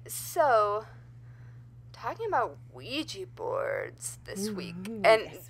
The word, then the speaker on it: Ouija: Yeah, I say Ouija, and that is apparently, according to, I believe, the Talking Board Historical Society or something, the proper pronunciation.